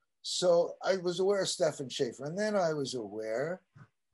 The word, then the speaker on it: Stefan Schaefer: I hope I'm pronouncing it right. Stefan Schaefer? You got it.